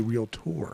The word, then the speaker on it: realtor: now realtor, it's actually realtor. Yeah. Oh, it's actually realtor. It's two actually. It's two syllables, not three.